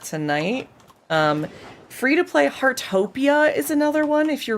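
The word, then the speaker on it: Heartopia: Harttopia is another one if you're really enjoying the cozy vibes. Um, what game was that? Hartopia.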